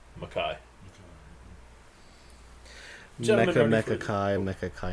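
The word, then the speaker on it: MacKaye: Hey, How do you pronounce his last name? Mackay.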